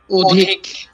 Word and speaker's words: অধিক: এই যে আমি বললাম না, অধিক শুদ্ধ উচ্চারণটি কি অধিক নাকি অধিক? অধিক। কারণ কি? কারণ হচ্ছে প্রথমে যদি সরিয়ে থাকে তার উচ্চারণ হচ্ছে ওর মতো হবে। হ্যাঁ, পরে হ্রস্বইকার থাকার কারণে, এটা বলতে হবে। হ্যাঁ, পরে হ্রস্বইকার থাকার কারণে উচ্চারণটি ও এর মতো হবে।